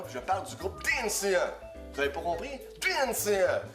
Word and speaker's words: DNCE: Toute la maudite été, ils étaient fatigués avec cette tune-là, puis je parle du groupe DNCE. Vous avez pas compris? DNCE! Comment est-ce qu'on prononce?